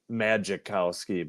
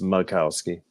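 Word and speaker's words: Majkowski: in that 89 Macausski, but it's spelled like magicowski, but it's it's Mowski.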